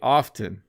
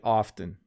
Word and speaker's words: often: and clearly i say often so often when i want to make a point i will pronounce the t in the word often but when i speak